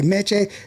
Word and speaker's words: Meché: Is it Mitch or how how do you say Mitch? because you have the accent over the e. It's mech. Yeah, mech.